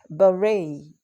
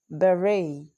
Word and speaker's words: beret: It's not beret, it is beret. Beret. The American pronunciation is beret. Then the British pronunciation is beret, beret. All right, so you can choose either of the two.